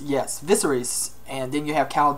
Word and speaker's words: Viserys: And the House Targaryen, got a few here, Daenerys and gosh, how do you pronounce that? Viserys, yes, Viserys, and then you have Khal Drogo.